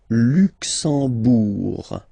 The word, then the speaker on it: Luxembourg: Le Luxembourg, okay, final G not pronounced, and then when you combine this M here, you get the sound en. You don't pronounce the M at all, it's this nasal en, okay?